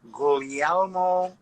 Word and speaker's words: Guglielmo: differently refinery is emilio gullielmo winery you kind of roll over that second g yes very good i